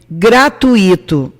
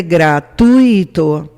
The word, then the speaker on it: gratuito: de sílaba tônica é muito comum as pessoas dizerem gratuito e acentuar o e gratuito quando o correto é gratuito oe não tem acento